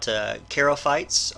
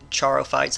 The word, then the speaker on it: charophytes: We talked about charophytes or charophytes. I believe that CH is pronounced with a K sound. So charophytes are the closest relatives of land plants.